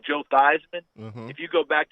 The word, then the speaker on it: Theismann: and ask for the Theismanns, everyone will give you a blank look. because the real family name is Thiesman. Oh. They changed it to Theismann at Notre Dame to rhyme with Heisman, and they were trying